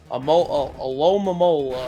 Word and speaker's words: Alomomola: Alomomola. I think that's how you say it. Yeah, Alomomola.